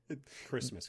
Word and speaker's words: Christmas: Christmas, Clay. Christmas. Don't derail me. God damn it. You don't pronounce the T, This- it's silent.